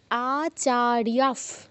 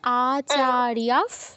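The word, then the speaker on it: আচার্যাঃ: বলবেন হুম অবশ্যই বলবো আচারিয়াফ বিসর্গের উপর প আছে তো এজন্য ফয় হসন্ত উচ্চারণ করতে হবে তুমি বলো আমার সাথে আচারিয়াফ বলো আচারিয়া পিতারফ পিতারফ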